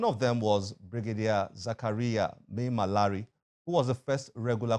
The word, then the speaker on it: Maimalari: Your book, The First Regular Combatant, Brigadier Zakariya Maimalari. Did I pronounce that correctly? Well, yes. Maimalari. Maimalari.